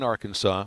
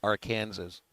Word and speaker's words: Arkansas: Apparently, there's a law on the books in Arkansas where it's illegal to pronounce the state our Kansas.